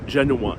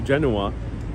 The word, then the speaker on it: Genoa: I'm going to be mostly referring to as genua in English and uh one this is a